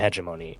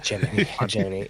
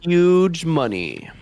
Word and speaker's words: hegemony: Hegemony. It'll be the Protect them from the season. huge money.